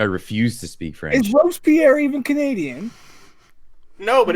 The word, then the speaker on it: Robespierre: Hey Della, how do you pronounce that last name there? What last name? It's Robes. I think it's Pierre. Robespierre. Robespierre. Oh, Robespierre.